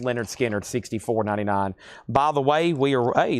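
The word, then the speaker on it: Lynyrd Skynyrd: And Leonard Skinner, pronounced Leonard Skinner, $64.99.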